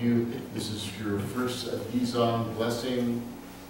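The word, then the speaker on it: 地藏: So Dizang, fourth tone for both. So it's like going down.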